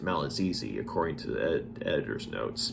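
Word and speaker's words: Malagigi: One of which is a wizard by the name of Malazizi. It's actually spelled Malagi. But it's pronounced Malazizi according to the editor's notes.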